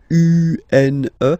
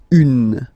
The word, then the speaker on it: une: Then the feminine article is here, and it's easier because if you have this U-N-E, then you pronounce it une, une.